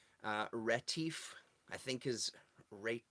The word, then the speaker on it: Retief: this Keith Lauver z' ret 'if i think his rape ret 'if i think is how they said you pronounce it and wanted to touch